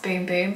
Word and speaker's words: Bum Bum: not long ago and apparently it's pronounced boom boom but everybody just calls it bum bum cream the bum deer